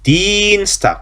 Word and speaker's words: Dienstag: 그 다음에 Dienstag. 자, 이거 발음 주의하세요. 이하고 애가 붙어 있어요. 자, 이하고 애가 붙어 있는 경우 발음이 어떻게 한다 그러면 그냥 이를 길게 해서 이 하고 발음한다 그랬죠. 이 길게.